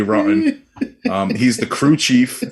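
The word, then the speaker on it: Roten: because this fits perfectly johnny rotten but it's r-o-t-e-n so it might be rotin but it it should be rotten um he's the crew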